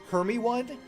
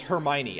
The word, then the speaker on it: Hermione: how do you pronounce is it herme one is it hermione no it's hermione i never would have